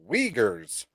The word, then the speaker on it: Uyghurs: have right now the uyghurs figures it's spelled with like a uy wiegers there are there are